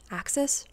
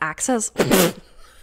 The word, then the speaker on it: AXS: some of the best access oh is it pronounced access they sell their tickets